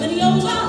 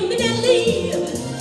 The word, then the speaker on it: Minnelli: It's M-I-double-N, then E-double-L-I. You double up the N, that's not new. Then E-double-E-L, end it with an I. That's why you say Minnelli.